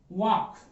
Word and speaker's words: walk: अब कहीं कहीं इसमें साइलेंट लेटर होते हैं। ये देखिए मैंने यहां लिखा है WALK, वाक। अब हम वाक पढ़ते हैं, किसी ने, हमारे टीचर